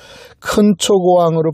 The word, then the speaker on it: 근초고왕: 이름하여 근초고왕. 근초고왕을 좀 더 강하게 발음하면 큰초고왕입니다. 큰초고왕으로 발음하는 것이 더 맞을 겁니다.